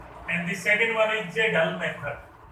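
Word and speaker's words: Kjeldahl: The first one is Dumas method, and the second one is J-Dull method. Jagel method. K is silent here.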